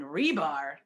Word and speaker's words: Hribar: that re Nee and rebar that H is silent every time I go